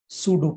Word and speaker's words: pseudo: to r is called सूडो। p silent होता है इसमें, सूडोमेट्रिक इफ नंबर वन, पहली